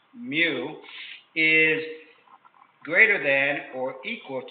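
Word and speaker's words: μ: It's pronounced mu, is greater than or equal to 1 3/4 ounces.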